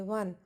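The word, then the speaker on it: one: वन, वन, व की sound आ रही है, नहीं लगाएंगे।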